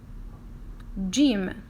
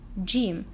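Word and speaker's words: جيم: close to your mind gym but actually is not gym this is its name Jim look like look like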